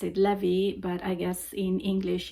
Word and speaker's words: Levi: In Italian, we pronounce it Levy, but I guess in English is Levi.